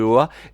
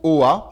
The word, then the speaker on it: Oa: Enfin, ton costume se recharge avec l'anneau se recharge avec la lanterne se recharge avec les faisceaux de Oa.